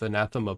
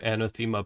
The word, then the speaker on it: Anathema: So, are any of you guys familiar with Anathema Publishing? Or Anathema Publishing, depending on how you pronounce it.